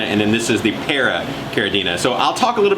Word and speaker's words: Paracaridina: we got some para caridina you say a para caridina thank you that is a whole lot of syllables so probably a lot of you guys